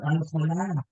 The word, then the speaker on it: Ángela: Y me decía, Ángela, dice, Ángela, dice, Ángela, que se pronuncia con la A larga, ¿sabes?